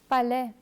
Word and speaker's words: palais: But if this letter combination is at the end of a word, then AI is always pronounced as A, as in palais.